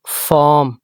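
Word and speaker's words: farm: फिर कह रहा हूं ए के बाद आर साइलेंट पढ़ा जाएगा। अच्छा एफ ए आर एम फॉर्म इसे फॉर्म नहीं पढ़ेंगे।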